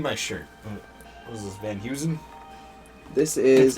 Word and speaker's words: Van Heusen: What was this, Van Heusen? This is. It's pronounced Van Hussen.